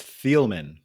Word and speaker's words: Thieleman: pronounce your last name yeah you did great it's thielmann okay I did great